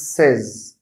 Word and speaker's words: says: add is to the word say it becomes says not says the other word today is the